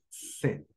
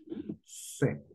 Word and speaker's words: sept: La pronunciación en francés será set, set. La P por alguna razón no la pronuncian.